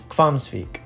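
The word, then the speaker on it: Hvamms: from here we have quams hot springs HV is pronounced more like KV kwam entry here will cost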